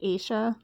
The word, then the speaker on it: Asha: But Asha Degree was failed by a system that didn't think her life was worth the effort. Her name is actually pronounced Asia.